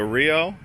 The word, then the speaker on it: Rio: So Rio, that's how you say it in Portuguese.